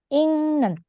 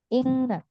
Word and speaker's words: 읽는: Real dihapus, terus ketemulah giok sama nian di sini ya. Giok ketemu nian, itu akan dibaca seperti iyang. Dibacanya seperti iyang. Berarti ingnen gitu. ingnen.